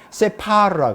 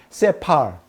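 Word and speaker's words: ספר: 한국말로는 스발이라 그러는데 히브리어로는 세파르라 그래요. 세파르. 이걸 갖다 세팔이라고도 간단하게 이렇게 두 글자로 할 수 있어요. 세파르 혹은 세팔.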